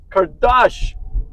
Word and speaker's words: Kardash: Estate mindset investor I'm here with Mr Kardash did I pronounce that correctly yes sir Mr Kardashian